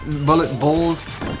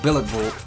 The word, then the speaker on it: Billet Bolt: I was saying bullet bolts. It wasn't called bullet bolt, it was called billet bolt.